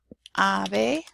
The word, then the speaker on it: ave: And then I also have ave and sábado. So there you have the B and the V both in similar positions, and they're both pronounced the same.